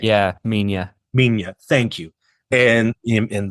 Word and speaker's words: Minya: I always mispronounce his name. Yeah, Minya.